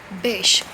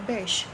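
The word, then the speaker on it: Bysshe: हैं वो है पर्सी बेश. The pronunciation of this B word is बेश. ठीक है, बेश, पर्सी बेश शैले.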